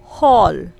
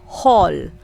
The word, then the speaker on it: hall: a before l spelling so we are going to pronounce letter a there as o again we are going